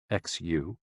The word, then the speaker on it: xu: the six sounds are xu pronounced like shh with a deep sigh which is associated with